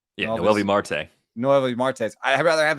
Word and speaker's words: Noelvi Marte: But gosh, would I rather have Noelvis Martinez than wait, did I say it wrong? Yeah, Noelvi Marte.